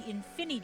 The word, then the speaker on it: Infini: fuse with lulu make the infini dragon which is like infinity but it's missing the last syllable the infinity well the